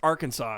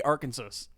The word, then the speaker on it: Arkansas: sp i can't speak i can't say arkansas wow every time i say it i say it different our kansas arkansas arkansas i think it's arkansas yeah here's the thing that's not how letters work it's art it's it's our kansas it's our kansas but